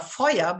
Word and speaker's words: Feuer: res to Cindra Feuer, which I would like to pronounce Cindra Feuer because this is such a German name and it's so vivid and lively.